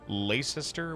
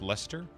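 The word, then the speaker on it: Leicester: English pronunciation gone down the train when they have things like Lacister, which is pronounced Lester.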